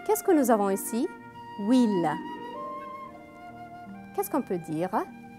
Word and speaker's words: huile: Très bien, parce que huile commence par une H muet. Après, il y a la voyelle U.